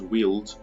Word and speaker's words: Weald: I found out it's actually pronounced Weald.